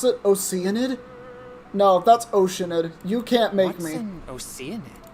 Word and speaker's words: Oceanid: oate who flowed here from that's how they pronounce it oenid no that's oceanid you can't make me oid W the grandm